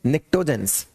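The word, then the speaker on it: pnictogens: फिर आता है ये पी साइलेंट है, निक्टोजेंस।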